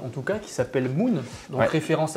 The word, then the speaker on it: MU:N: lire en phonétique du moins bien sûr de prononcer Moon de la bonne manière qui parle le langage